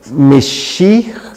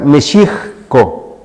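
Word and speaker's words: Mexihco: En náhuatl se tendría que pronunciar Mexicco. Mexicco. La H, como lo acabo de mencionar, tiene un ligero sonido como una J, Mexicco.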